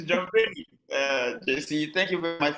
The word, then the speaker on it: Banin: So it's spelled B-A, but it's pronounced Benin.